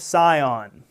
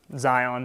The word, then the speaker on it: Sion: "stood on the Mount Sion." Zion is another way to pronounce it.